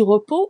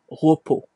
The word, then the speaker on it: repos: Et aussi repos, on voit bien qu'on ne prononce pas le s. Voilà. Donc c'est le repos.